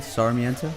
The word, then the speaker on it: Sarmiento: Sarmiento?